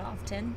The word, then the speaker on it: often: not something I have to do often she pronounced the tea and often which I do too apparently you're not supposed